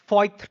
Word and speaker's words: Voith: Jan 22nd, I got onboarded into this organization by name Voith Turbo. It is pronounced as VOITH TURBO India Private Limited.